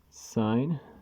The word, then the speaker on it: sin: what they were for the shorthand is s i n for sine but we still pronounce it sine when we're saying it sine cos short for cosine